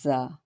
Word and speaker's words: ز: کی آواز نکلتی ہے، زا۔ The articulation point of za is pronounced by the placing tip of the tongue close to the upper front teeth at the edge of the upper gums, allowing air to pass with a slightly buzzing sound.